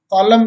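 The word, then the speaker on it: column: यदि एन अंत में एम के बाद आए, यदि अंत में एम के बाद एन आता है तो प्राय साइलेंट रहता है। जैसे ऑटम मीन्स पतझड़, हिम मीन्स भजन, कॉलम मीन्स स्तंभ, सॉलम मीन्स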